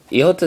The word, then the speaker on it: iota: is iota iota now iota is a bit of a funny one like to pronounce it can have three different pronunciations it can be as in as in the name iota as in an e sound like a double e as in b or it could have a it sound as in the i